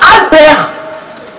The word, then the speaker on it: Albert: Albert, ça se termine par un T. Mais on le prononce sans le... On le dit sans le T. Voilà, Albert.